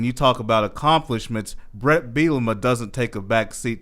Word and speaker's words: Bielema: The first thing is how to pronounce his name, Brett Bielema. Bielema. If you hear it, bulimia, there's a bunch of different, Bielema, a bunch